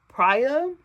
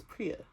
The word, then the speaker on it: Priya: Pria. Love Pria. She's amazing. I really hope that's how you say her name cuz in my head I've been reading Priya.